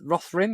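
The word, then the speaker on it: Rohirrim: war of the Roth Roth rim or something Rohan well I could I couldn't pronounce it it's r o h i r r i m um then you've got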